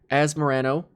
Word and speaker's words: Asmorano: to work through them so the first part as morano pretty simple and then the middle